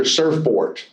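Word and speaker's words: Surfbort: Uh, the one I mentioned earlier, Surfport, and if you think I'm mispronouncing that, it's S U RF B O R T.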